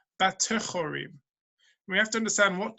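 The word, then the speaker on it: בטחורים: It's pronounced, it's read one way. That's what it reads like, but we pronounce it with this word, batechorim.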